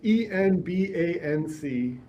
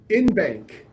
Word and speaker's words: en banc: on this podcast today, pronounced ENBANC in bank as a good American ought to, and didn't say en banc or whatever other ridiculous pronunciation the legal bar wants people to say.